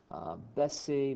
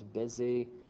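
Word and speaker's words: baisser: or to add to bessie means to lower it's like the opposite of ogmonte if you mispronounce that as busy it can be a bad word so let's not do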